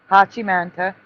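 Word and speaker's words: 八幡平: Hachim Manta is the I know that's the proper pronunciation of that one, which stands for dragon eye.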